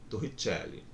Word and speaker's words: Torricelli: Quem quiser pronunciar com sotaque, né, vai ficar como? Torricelli.